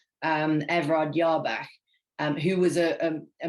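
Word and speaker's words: Jabach: a german banker called yarbach i think is how you pronounce it with a j um everard yarbag um who was a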